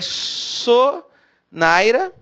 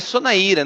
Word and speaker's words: Sonaira: Então, o nome dela é Sonaira, na verdade é Sonaíra, não tem, sem acento tônico, sem acento no i, é Sonaíra.